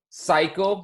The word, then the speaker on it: cycle: got another one cycle cycle would be one very good the first C sounds like a s that's a soft C second one sounds like a cake that's a hard C Malachi you got another